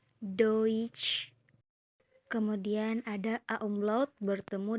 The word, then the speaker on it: Deutsch: Selanjutnya huruf yang selalu bertemu adalah huruf E dan U. Dibaca OI. Contohnya Deutsch.